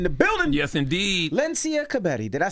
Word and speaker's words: Kebede: Lencia Kebede. Did I say it right? Pretty close. Well, what is it? Kebede. Kebede.